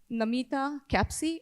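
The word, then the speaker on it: Namita Kapsi: maybe spell it? Namita Capsi.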